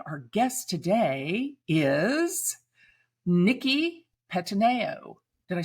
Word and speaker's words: Pettineo: Pettineo. Close enough. Pettineo. Yeah. Pettineo. I tried to put an Italian slant on it. You have to put it like it's a Jersey Italian, spin on it.